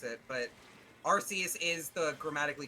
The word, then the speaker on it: Arceus: I do not care how you pronounce it, but Arceus is the grammatically correct way to do it.